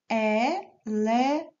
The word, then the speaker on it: elephant: В слові elephant ми не бачимо з вами букви F. Замість неї стоять буква P і H. Вони також читаються звуком F. E-le-fant.